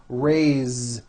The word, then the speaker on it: raised: a bit unusual because even though it is spelled with an S it's pronounced with a voiced Z raised so we say I